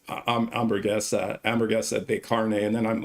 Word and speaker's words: hamburguesa: So you don't pronounce the H. It's hamburguesa de carne.